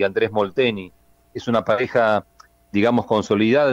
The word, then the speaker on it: Andrés Molteni: el holandés a los argentinos Leo Mayer y André Molteni. ¿Me confirmas la pronunciación? Andrés Molteni en parciales de Sí.